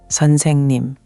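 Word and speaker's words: 선생님: Seonsaengnim. Good. The saeng part should flow more. It's almost like saying song, but with an eh sound. Seon saeng nim. The middle syllable gets the most weight.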